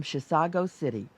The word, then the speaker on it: Chisago City: grilled it comes from Chisago City which is not a mispronunciation of Chicago it's a small town